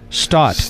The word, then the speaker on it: Staat: Staat. Staat. There you go. And it's Dutch, and I should know that since you and I are both half Dutch.